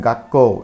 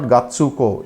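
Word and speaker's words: がっこう: We pronounce it gakko. It's not gatsuko. It is gakko.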